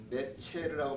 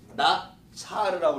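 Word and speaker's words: נצר: 지금 예수님에게 이게 네체르라고 발음해요. 원래는 히브리어는. 근데 이게 동사로 하면은 나차르라고 이렇게 발음을 다르게 합니다. 똑같은 자음에다 나차르라고 해요.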